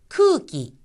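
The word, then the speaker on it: 空気: 쿠기, 쿠기라는 것이 나왔죠. 쿠 다음도 길게 발음이 나서 쿠 하고 나고 키는 첫음이 아니기 때문에 끼와 가깝습니다.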